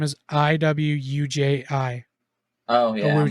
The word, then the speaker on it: Iwuji: Chukwudi Awuji is the actor's name. Spell it. Wait, what is You his really? name? Chukwudi, Chukwudi, and then his last name is Iwuji.